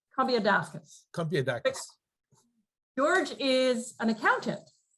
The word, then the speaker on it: Combiadakis: Combiadakis.